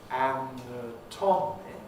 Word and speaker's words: anatomic: now obviously they're related they have the same spelling but yet their pronunciation is really rather different because we say anatomic and i think i've